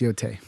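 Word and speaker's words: Yōtei: I figured out how to pronounce it. Actually, it's Yotai.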